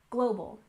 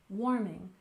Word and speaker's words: global warming: and next we have global warming with stress on the first syllable in global global and warming we stress the first syllable warming warming so this refers to